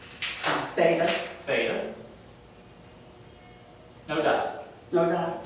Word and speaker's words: theta: And how are we pronouncing theta? Theta. Theta. So it's just theta. Th. Yep, just like a TH.